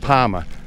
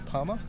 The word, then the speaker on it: Palmer: So your name is Palma? My last name is P-A-L-M-E-R, but I can't pronounce the R, so it's Palma.